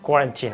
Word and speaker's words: quarantine: সো উই can actually make it clear that the pronunciation of this word will be কোয়ারেন্টিন।